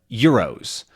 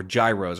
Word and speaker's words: gyro: But most specifically, you can find gyros. or gyros, or however you want to pronounce it. But I've almost always heard it called a gyro, which is Jyro, and they are sort of a Greek sandwich